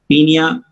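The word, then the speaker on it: Paeonia: Form में बोलते हैं पीनिया ओ साइलेंट, पीनिया जैपोनिका।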